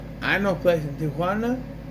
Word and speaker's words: Tijuana: So this dude Taylor says, hey, I know a place in Tijuana. They say it wrong. They say Tijuana. It's Tijuana.